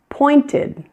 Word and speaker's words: pointed: Pointed. Pointed. In this one, we have 2 syllables. You hear oi in the first syllable, and you hear ed in the second, pointed. Asked.